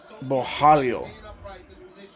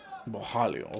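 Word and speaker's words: Borralho: Bojalio. All right. So, the Rs are per pronounced like an H. Bojalio.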